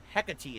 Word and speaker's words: Hecate: Hecate is how you say it.